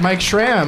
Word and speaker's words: Mike Schramm: Mike Schramm. Who doesn't know Mike Schramm? That's right. Two syllables, back to back.